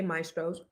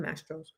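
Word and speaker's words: Mastro's: So I just want to tell Anonymous, the waitress didn't say maestros. She said mastros.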